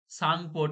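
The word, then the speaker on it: Tsangpo: সাংপো, এটা উচ্চারণটা হবে সাংপো, টি এর উচ্চারণ হবে না, টিটা সাইলেন্ট থাকবে। যেমন সুনামি, সেরকম ভাবেই।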